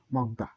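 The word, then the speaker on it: 먹다: থাকলে তাকে বাচ্চিম বলে যেমন মক মক এই মক আকারে দা নিচে থাকলে ম উচ্চারণ হয় মক নিচে থাকলে গিয়ে ক হয় মক দ্বিগুত মাঝে থাকলে দ হয় তাহলে মক দেখে দা মগদা তাহলে এই উচ্চারণ হবে মগ দা মগদা মানে এর বাংলা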